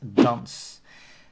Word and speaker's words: dans: And the Dutch word for dance is the same word, only pronounced in Dutch, that is dans.